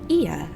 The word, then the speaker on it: Ea: When the vibration of vocal folds was still required to convey our thoughts and intention, Ia, I believe, was the pronunciation used when referring to our people.